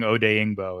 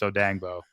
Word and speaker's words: Odeyingbo: Because I was saying Dio Dangbo's name wrong for like the whole year, his whole rookie year. I was saying Odeyingbo, and it's Odangbo.